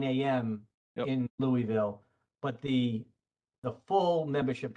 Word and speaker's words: Louisville: in trouble for is if you mispronounce the name of the town was louisville not louis don't want you to